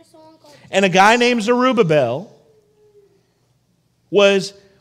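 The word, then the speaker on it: Zerubbabel: name his name is zerubabel say that with me arabel you even said it wrong it's zerubabel zel there you go please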